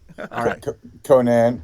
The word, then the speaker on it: Konan: just said it right con is good Conan there's so many ways I say Conan here mostly okay we want